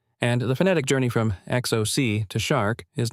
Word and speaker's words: xoc: The first theory connects shark to the Mayan word xoc, pronounced roughly like shok or shock, which was used in